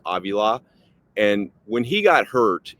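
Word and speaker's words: Avila: Steve uh it's looks like Aila but it's pronounced Aila and when he got hurt in that Detroit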